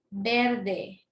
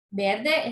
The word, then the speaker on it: verde: Verde, verde. Verde es palabra grave, porque la fuerza la tiene en ver, en lo que es en la penúltima sílaba.